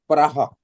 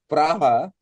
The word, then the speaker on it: Praha: Oh, you are actually it is pronounced as Praha. Okay, sir. Sorry, It is I did not know pronounced that. as Praha.